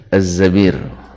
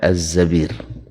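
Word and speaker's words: الزبير: Abdurrahman ibnu Az-Zabir ini satu-satunya tulisannya sama dengan Zubair, tapi bacanya adalah Az-Zabir. Pada umumnya Zubair ya.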